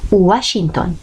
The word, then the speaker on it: Washington: Se utiliza en las palabras de origen inglés, como la palabra Washington. Suele pronunciarse como si fuera la U. Washington, Washington. Cuidado, se escribe con la V y no la U.